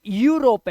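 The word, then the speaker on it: Europe: क्या पढ़ेंगे यू पढ़ेंगे ई यू को यू पढ़ेंगे जैसे इस देश को देखो यह देश का नाम है इसे यूरोप नहीं पढ़ते क्योंकि रोप माने होता है रस्सी रोप रस्सी को इंग्लिश में बोलते हैं रोप लेकिन यह क्या है ये ये यूरोप है यू क्या बोला है मैंने यू ईयू नहीं ई यूरोप नहीं यूरोप ईयू मत पढ़ लेना ना सिर्फ यू यूरोप इसी तरह से यूलॉजी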